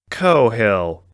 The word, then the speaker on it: Coghill: "Cohill," the shorter man sharply corrected on her pronunciation.